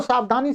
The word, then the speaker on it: स्वः: ये स्वाहा मत बोल दीजिए, स्वाहा नहीं है, स्वः ठीक है, नहीं तो स्वाहा बोल दें आप।